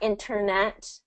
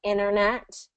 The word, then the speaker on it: internet: So there is a situation where the T becomes silent in some specific words like international and internet. You hear how you don't really hear that T? It's not internet, but internet.